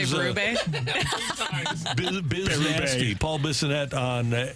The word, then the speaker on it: Berube: Berube. Berube, yeah, I think It's that's French. the French pronunciation.